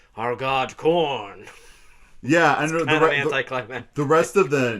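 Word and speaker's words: Khorne: corn that's the name corn it's k-h-o-r-n-e it's spelled cool but it sounds you know it sounds like the yellow kernels you find in your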